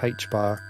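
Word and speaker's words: ħ: uh okay so the reduced planck's constant is pronounced h bar and it's a frequency measured in hertz and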